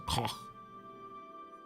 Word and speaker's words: Koch: The CH in Koch is spelled like you're gurgling, so Koch.